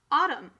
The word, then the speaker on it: autumn: And the end here is pretty much almost silent. Read the whole word. Autumn.